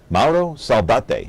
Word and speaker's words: Mauro Saldate: So what is the correct pronunciation? Mauro? Mauro Saldate.